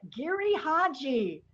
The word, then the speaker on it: Giri/Haji: something very exciting i just learned how to pronounce it correctly so i'm thrilled about that gary hodgy welcome to the table hello idris thank you